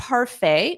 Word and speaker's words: parfait: just call it a parfait notice that pronunciation the t is not pronounced so it ends on a f a parfait parfait you